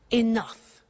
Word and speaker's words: enough: Now this word enough, enough. It's written e n o u g h. The pronunciation is enough.